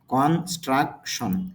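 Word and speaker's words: construction: ইউ C struck T আই ও এন সন কনস্ট্রাকশন কিন্তু আইপিএতে খেয়াল করলে আমরা বলব কন স্ট্রাকশন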